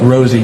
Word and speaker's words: Rosie: is Rosie it's yeah it's pronounced R it's pronounced Rosie not Ry and I'm not going